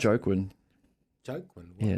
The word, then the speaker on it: Joaquin: I just look at it, but I can't even pronounce it. Joaquin. Joaquin? Yeah, it's Joaquin.